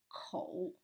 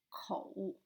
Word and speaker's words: 口: It's about the Chinese character for mouth, and it is pronounced as 口, 口 in Chinese.